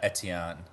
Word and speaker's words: Etienne: Etienne. It's like French or something.